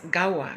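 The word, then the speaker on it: Ghawa: Tonight our talk will be about Emirati coffee, or otherwise known as Gawa. That's spelled G-H-A-W-A.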